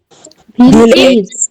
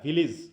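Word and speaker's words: village: এজ, হ্যাঁ ভিল plus এজ, ইজ, হ্যাঁ ভিলিজ, আসল উচ্চারণ হবে হচ্ছে ভিলিজ, ভিলিজ। তাই তো ভিলিজ। হ্যাঁ ভিল ইজ, আমরা উচ্চারণ করি ভিলেজ, এখানে এ সাউন্ড না, এখানে হচ্ছে ই সাউন্ড হয়।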